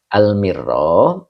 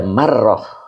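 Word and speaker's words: المرة: Nah, di sini almirro bikasril mimi membacanya itu bikasril mimi dengan mengkasrhkan mimnya. Sebab ada marrah. Kalau tidak ada keterangan takut dibacanya marrah. Kalau marah artinya sekali ya.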